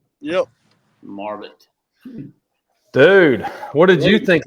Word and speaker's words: Marbut: Do you don't have any weird pronunciation of your name, do you? No, you nailed it. All right, sweet. It's Marbut. Yep. Marbut.